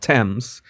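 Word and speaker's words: Thames: And some of you already told me why this is pronounced temps.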